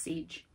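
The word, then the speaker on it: Sige: It is pronounced siege.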